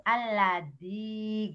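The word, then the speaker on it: الذي: Alladzi gitu. Ya dengan bacanya tanpa titik, di Qur'annya ada titiknya. Oh. Iya. Ini tak besarkan dulu ya. Alladzi. Gitu ya. Ujung lidah aja nempel.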